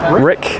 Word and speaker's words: Ryck: right new release the rick is it my pronunciation rick rick is right yep and it's from